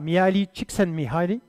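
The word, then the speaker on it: Mihály Csíkszentmihályi: Donc, j'ai bossé cette conférence, on prononce ça Miali Chicks Mihai.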